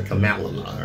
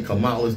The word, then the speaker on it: Kamala: that she caught hell after mispronouncing Kamala Harris's name you want to call her Camala or some crap Democratic